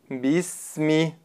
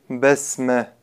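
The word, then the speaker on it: بِسْمِ: Бисми. Четко произносите огласовку кясру. Бисми. И не говорите басме.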